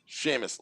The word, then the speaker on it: Seamus: Eugene Hewitt says, pronounce Seamus. Seamus.